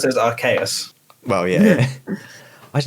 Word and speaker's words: Arceus: of the hidden pokemon yeah now the it's pronounced arceus and yeah all throughout the presentation they all